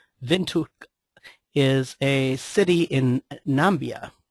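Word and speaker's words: Windhoek: these uh the the the Mark is actually pronounced uh vuk vuk is a city in nambia sry nam Namibia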